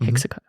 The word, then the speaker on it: HEXACO: How do you spell that? Hexco. Hexaco. No. Hexaco. Right.